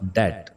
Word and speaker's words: debt: इसमें B silent है, बी को हम प्रोनाउंस नहीं करेंगे, तो वर्ड होगा डेट।